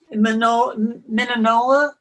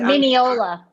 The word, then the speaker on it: Mineola: there i'll get there minna long island i'm not saying it correctly mineola minneola okay thank you and it was